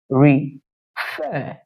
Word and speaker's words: refer: on this last syllable, refer. You see that the stress lies on the last syllable, meaning the force. Your voice went a little bit higher than when you were pronouncing the first syllable.